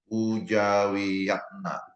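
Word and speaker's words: Poedjawijatna: satu dari Indonesia namanya pujawiyatna ini ejaan lama ya poejawijatna pujawiyatna itu cara bacanya filsafat adalah ilmu yang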